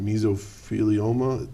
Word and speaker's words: mesothelioma: want I can never say that we're but mesothelioma did I say it right yes you did